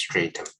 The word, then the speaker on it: strata: multiple strata of delusions how do we pronounce this strata meaning structure stratum can be also pronounced straighter yeah a layer or series